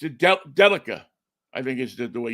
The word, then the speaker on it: Delica: It's a Delica, I think is the way you pronounce it.